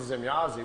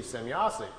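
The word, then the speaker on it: Semjase: So he wrote it out, S-E-M-Y-A-S-E, Zemyazi.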